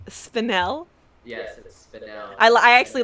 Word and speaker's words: Spinel: Carson mm-hmm so we you were saying it wrong it's spinel yes I'll I actually